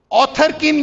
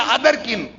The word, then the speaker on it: Otherkin: جا کے سرچ کریں آتھر کن یا ادر کن، اس کا تلفظ جو ہے OTHERKIN، ادر کن کے بعد آتھر کن بھی کہتے ہیں، ادر کن.